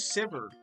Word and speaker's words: Sivir: Is that how Vivir is supposed to be pronounced? No, her name's Sivir.